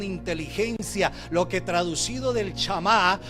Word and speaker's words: Shemá: lo que traducido del chamá o shemá para mejor pronunciación es el oír Oye